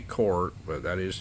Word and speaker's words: Korth: way that I say court but that is the correct way to pronounce the word Court in the German in the German language a lot of people call it corth I knew some of